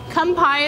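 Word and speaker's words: 乾杯: Why don't we do a little kanpai is how you say it.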